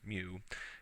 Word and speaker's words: mu: other factor is this mu value here which is a Greek symbol that's how it's pronounced as mu and is referred to